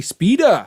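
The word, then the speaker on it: SP//dr: to complete including penny spp slash dr aka speeder that's how you pronounce it proper um and also spider-man noir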